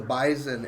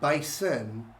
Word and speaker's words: Bison: no this is the Bison and by the way it's not bison it's bison it's a Z instead of nest even though it's spelled with an S it's pronounced with his